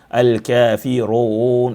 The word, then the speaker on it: Al-Kafirun: But here we say run because the ra, although it has dhamma, it is a heavy ra, so it should also be heard from how we articulate it and pronounce it. Al-Kafirun.